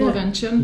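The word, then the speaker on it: Lovćen: And the other thing we did was we took a cable car to the top of Lovenchen. Uh-huh. Is that how you say it? Yeah, Lovenchen.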